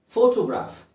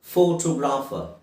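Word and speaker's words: photography: ಫೋಟೋಗ್ರಾಫರ್, ಫೋಟೋಗ್ರಾಫರ್, ಫೋಟೋಗ್ರಾಫರ್. Okay. ಫೋಟೋಗ್ರಫಿ ಇನ್ನೊಂದು ಪದ ಈ ಫ್ಯಾಮಿಲಿಗೆ ಸೇರಿರುವಂಥದ್ದು ಫೋಟೋಗ್ರಫಿ. ಫೋಟೋಗ್ರಾಫ್, ಫೋಟೋಗ್ರಾಫರ್. ಆದರೆ ಫೋಟೋಗ್ರಫಿ ಅದು ಫೋಟೋಗ್ರಾಫಿ ಅಲ್ಲ, ಫೋಟೋಗ್ರಫಿ. ಸರಿಯಾದ ಉಚ್ಚಾರಣೆ ಫೋಟೋಗ್ರಫಿ.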